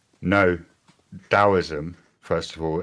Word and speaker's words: Taoism: No, Daoism, first of all, it's it's pronounced as if the T were the letter D. So it's pronounced Daoism or the or the Dao.